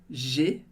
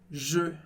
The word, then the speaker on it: je: Perceba que não é G, porque senão seria E acento agudo, que você já sabe, de Léa. Não é G, mas é je.